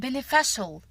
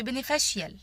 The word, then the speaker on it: beneficial: كلمة مفيد بقول beneficial ما بقولش beneficial.